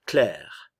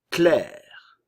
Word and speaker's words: Claire: Le A et le I vont se prononcer comme un E espagnol, clair.